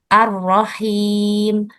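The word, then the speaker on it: الرحيم: Jadi yang betul adalah pengucapannya arrahim. Arrahim seperti itu.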